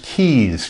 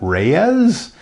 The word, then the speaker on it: Keyes: my last name is Keys ke yees you'd be Sur surprised at how many people misspell it or mispronounce it is that Reyes is that KZ no it's keys and then I'll then